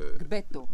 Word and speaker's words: Gbeto: Ça, c'est pas évident à prononcer pour quelqu'un qui parle le français. Oui, c'est pas évident parce que c'est le son G plus B, qui est comme le G. Donc voilà, donc Gbeto.